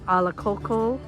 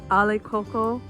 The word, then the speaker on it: Alakoko: means fish in hawaiian we glide the vowels together and it's pronounced as been referred to as alakoco or ale coco there's a difference in